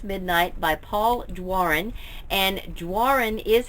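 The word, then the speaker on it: Doiron: it's called almost midnight by Paul Warren and Warren is how you pronounce this name which is spelled do iro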